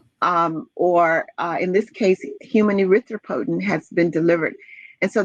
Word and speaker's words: erythropoietin: the ones that are used for producing human erythropoietin, HEPO? I'm not sure I pronounced that correctly. Right, you got it. Human erythropoietin, yes.